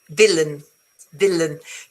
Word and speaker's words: villain: Villain, because remember that the stress, it's here.